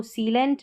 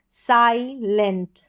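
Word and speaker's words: silent: इसको सीलेंट नहीं पढ़ेंगे। आई को यहां पर आई पढ़ेंगे। साइलेंट साइलेंट।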